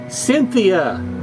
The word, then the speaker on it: Synthea: wow and she is called Cynthia but not spelled like the proper name Cynthia It's s y n